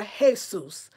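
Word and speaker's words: Jesús: yukue Abby says Lisa remember the letter J in Spanish we pronounced like H thank you so like Jose right or hey soos is that right like that for example of the J being pronounced like an H thank you I'm gonna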